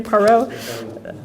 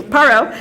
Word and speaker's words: Parrot: have um a frenchman andre i'll say his name wrong too my french is even worth paro i'll just say paro how do i say paro okay thank you parrot who between 1933 and 38 presided over the